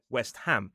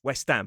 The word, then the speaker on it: West Ham: But actually ham in this word is not a suffix. It's its own word. So we pronounce it as ham, not two words. So we say West Ham.